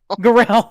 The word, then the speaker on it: Garel: I thought it was pronounced Garel. Garel. That's it.